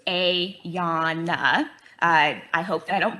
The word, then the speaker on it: Ayana: My name is Ayana, pronounced Ayana.